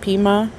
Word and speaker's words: Pima: I'm going to try to pronounce this county. I'm terrible at this. I've never heard of these. It's Pima, P-I-M-A County Sheriff's Department.